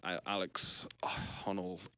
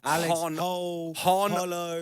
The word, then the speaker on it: Honnold: Alex Honnold, spoke about how it's not What's his fucking name? Because you're like Alex Hollow. Honnold. Honold. Alex Honnold.